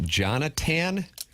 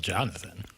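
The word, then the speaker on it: Jonatan: There's no H in the Jonathan. Yeah, I think it's still Jonathan. Well, spell it correct. What were you pronouncing as a second ago? It's I'm on tape delay. It's spelled J O N A T A N.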